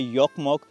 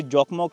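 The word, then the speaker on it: Jokkmokk: शहर का नाम है योकमोक। वैसे जोकमक लिखते हैं लेकिन इनकी भाषा में जे को प्रोनाउंस नहीं किया जाता। जे को ये य कह के प्रोनाउंस करते हैं। तो इसको बोला जाता है योकमोक।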